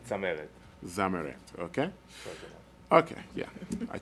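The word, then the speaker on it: Tzameret: How do you pronounce the last name? Zameret.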